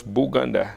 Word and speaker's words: Buganda: name Uganda comes from the British could not pronounce buganda so they pronounce it as Uganda so they